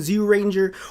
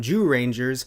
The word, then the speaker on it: Zyuranger: dinosaur squad / squadron zoo ranger or maybe you're feeling a little frisky and quote-unquote correct and you want to call them Joo Rangers because technically it is the correct pronunciation but I will never